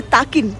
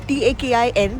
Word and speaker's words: Takin: But this place houses the national animal of Bhutan, which is called as the Takin, Takin. That's how it's pronounced.